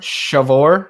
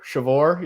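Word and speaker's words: Sceviour: Yeah, it's Shavor. Shavor, yeah.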